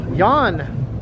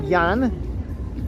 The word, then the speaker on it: Jan: Over here you're just used to pronouncing the letter J a certain way, so thank you once again, Jan, or Jan, for the generous super